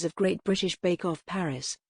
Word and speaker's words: Paris: Paris, Paris, the capital city of France, whose pronunciation became a talking point following the launch of the Netflix series Emily in Paris in October.